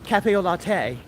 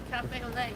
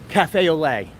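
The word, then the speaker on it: café au lait: Oh, and now we're on Cafe au Latte. Cafe au lait. Cafe au lait. Did I add an extra few 5 syllables? Not a lot. I literally just...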